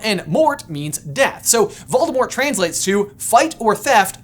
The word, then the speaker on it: Voldemort: far more menacing moniker: Voldemort. I guess it's technically supposed to be pronounced "Voldemor", but whatevs. Whatever, I'm getting cheese fries. The name Voldemort has French origins and